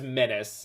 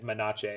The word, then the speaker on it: menace: love fear but uh the word is menace ella isaac i just frequently mispronounce it as monache because i think it's funny menache oh what vindicate